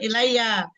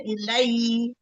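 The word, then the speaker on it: إليّ: Coba kalau berhenti bukan ilayya. Yuha ilai. Jadi ya-nya didapat.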